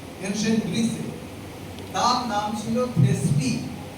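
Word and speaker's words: Thespis: ব্রিসি তার নাম ছিল থেসপি টি এইচ ই এস পি আই S last কেসটা সাইলেন্ট অনেক শব্দে লিখবে যখন সাইলেন্ট থাকে থেসপি হি ইজ কলড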